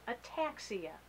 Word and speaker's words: ataxia: very talented musician and he has something called a taxia is that correct is that how you say it that is correct and so as Ian